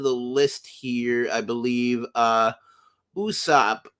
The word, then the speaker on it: Usopp: Usopp. Usopp's name means lie or falsehood, and he also has the same pronunciation in Japanese of Aesop, as in Aesop's Fables. And of course, we see